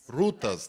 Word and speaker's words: rutas: called Ro um routs how do you say this rutas thank you so much my Portuguese was like killing me here so routas